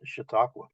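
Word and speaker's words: Chautauqua: that the last letter here both of them pronounced shiaka apparently this one has real spoof quality the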